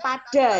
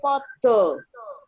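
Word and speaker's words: padha: Podo ini bacanya bukan pada ya, tapi podo.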